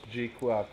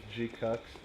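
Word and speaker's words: GQuuuuuuX: I know it's pronounced G-Quax, but I like to call it G-Cux.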